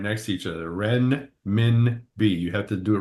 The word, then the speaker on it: renminbi: Renminbi.